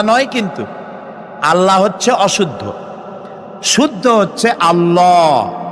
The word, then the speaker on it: আল্লাহ: বলেন তো আল্লাহ নয় কিন্তু আল্লাহ হচ্ছে অশুদ্ধ শুদ্ধ হচ্ছে আল্লাহ বলার সময় মুখটা